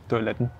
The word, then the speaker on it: Toiletten: Toiletten. Toiletten, wieder mit dem N am Ende, ne?